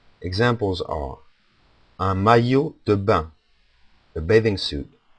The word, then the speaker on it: maillot: ILL becomes pronounced as a Y. Examples are un maillot de bain, a bathing suit, un maillot de bain.